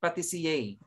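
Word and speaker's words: pâtissier: Okay, you pronounce it patisiye. Pronounce.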